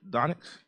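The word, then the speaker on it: Dončić: The number 3 pick, it was Luke Doncic.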